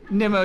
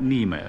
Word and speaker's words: Nimmo: The name is Nimmo, not Nemo. Oh, really?